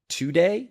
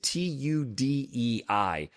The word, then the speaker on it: tudei: So, the two types of kava are called tudei Mhm. and noble kava. Now, the tudei is t u d e i, but it is pronounced like tudei, right?